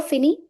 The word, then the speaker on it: finis: So it becomes je finis. Last letter, that is S, will remain silent.